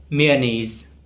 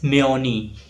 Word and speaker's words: mayonnaise: So the correct pronunciation is mayonnaise. It's often mispronounced as mayonnaise, right, or mayonnaise.